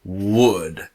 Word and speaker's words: would: the questions now here the L in wood is completely silent the pronunciation is wood wool does not exist this is wood all right say with